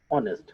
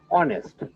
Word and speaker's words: honest: And honest, not honest. Actually, spelling honest, pronunciation honest. Honest, honest. Here we can see the pronunciation of vowel O. H here is silent.